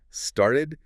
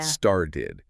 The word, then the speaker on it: started: Started pronounces with flap T, Yeah. started. You can hear how that middle consonant isn't a sharp, distinct T, like started. It's much closer to a quick D start.